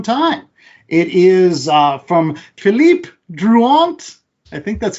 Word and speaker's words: Philippe Druillet: really really long time it is uh from Philip drant I think that's how you pronounce it ja is did I get even in the ballpark I'd say Philip Julet I'd say Philip julay say yay ah but it's called the six